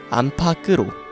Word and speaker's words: 안팎으로: 영하 20도 안 타게 여러분은 암탉 에 다름 을 어떻게 하십니까 암 파크로 반 파악해 안팎으로 반 파악해 라고 잘못 말하고 있지는 않은가요 맞는 발음은 다음과 같습니다 안팍으로 암탉 께 으 긴 견우가 끝나고